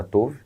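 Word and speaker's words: Tov: teria lido o livro Uma igreja chamada Touve. E assim que se pronuncia de acordo com o próprio livro.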